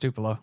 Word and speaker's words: Tupelo: of Tupelo and and is that tupo what was it it's not Tupelo yeah it's it's it's pronounced Tupelo okay how did you